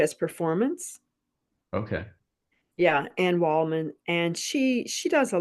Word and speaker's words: Waldman: not sure how but Anne WLAN has kind of made um made a thing you know what I mean Waldman I'm saying her name wrong okay she's only 79